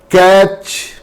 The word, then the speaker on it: catch: T is silent when it is used before CH. For example, you know all these words are very, very common. Catch, sketch, stitch, watch, which, and WHICH both are same in pronunciation.